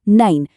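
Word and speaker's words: nein: अगला है नाइन। इ आई वाला नियम याद है ना? तो ये हुआ नाइन।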